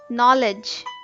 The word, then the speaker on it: knowledge: in not is K the silent letter in knowledge is K the silent letters in